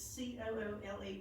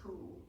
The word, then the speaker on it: Coole: It's c o o l e but pronounced just Coole, Coole Park.